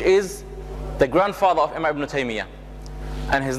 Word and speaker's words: Ibn Taymiyyah: The proper pronunciation is Ibn Taymiyyah.